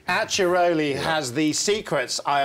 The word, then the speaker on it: Acciaroli: Tell us how to pronounce this Italian village. It's called Acciaroli. Acciaroli, yeah.